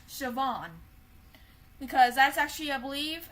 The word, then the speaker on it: Siobhan: Well, her name is actually pronounced Siobhan.